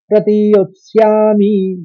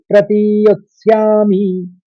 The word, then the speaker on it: प्रतियोत्स्यामि: इषुभिः प्रतियोत्स्यामि, योत और स्यामि, योत्स्यामि एक साथ पढ़ते हैं तो जल्दी पढ़ा जाता है और सही उच्चारण यही है। इषुभिः प्रतियोत्स्यामि।